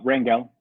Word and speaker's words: Rangel: today's show I am joined by Rangel pronounced I promised your last name right did I get that Ringo Ringo okay okay Ringo and me maybe